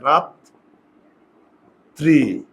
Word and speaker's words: রাত্রি: র ফলা আছে তো শেষে যদি রফলা থাকে তাহলে এই বর্ণটা দুইবার উচ্চারণ হবে।